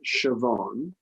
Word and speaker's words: Siobhan: The name is pronounced Siobhan.